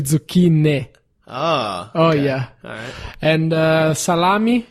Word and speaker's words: zucchini: five for sure panini zucchini that's another big one it's actually tsuki Nick ah oh yeah and